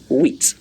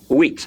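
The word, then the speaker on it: huit: I spelled okay and the pronunciation of that word in French is wheat that is pronounced wheat let me say wheat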